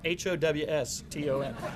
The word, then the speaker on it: Houston: When I wrote this out, and I was practicing this earlier today, I pronounced it Houston, so I said I had to spell it out, Howston.